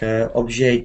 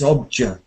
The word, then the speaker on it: object: You know when you say object you are pronouncing it a little bit in a French way like obj or something like that. It's object object object. In in English we say j object object object like